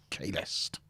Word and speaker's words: Kahlest: Sounds the same, doesn't it? Yeah. It's only if you particularly pronounce the T at the end that you can even tell.